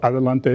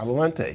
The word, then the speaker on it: Adelante: And I want you to pronounce the name because I am not good at pronouncing names. So I'm the CEO of Adelante Healthcare. Adelante. Yes. Did I say it right? Yes. Adelante.